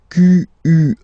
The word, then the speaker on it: quel: Quel, masculine form here, will be pronounced exactly as the feminine form here. Quel. So, only one sound, okay?